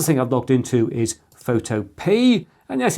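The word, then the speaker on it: Photopea: and the other thing I've logged into is photop and yes it's pronounced photop not photopia the Fantastic online version of Photoshop this I'm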